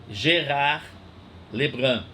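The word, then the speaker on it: Gérard Lebrun: filósofo francês gerar lembran a gente escreve Gerard lebrun pronuncia gerar Le Grand o poder deve ser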